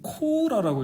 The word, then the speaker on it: 콜라: 특이하게도 쓰기는 콜라라고 쓰는데 읽기는 코라라고 읽어요. 코라 이 당시에는. 그죠? COLA 하면은 연음이 안 일어날 것 같이 그렇죠, 생겼거든요. 코라 일본식인 것 같아요.